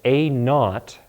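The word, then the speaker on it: a₀: A of t equals a naught, that's how we pronounce this, a naught times e to the kt.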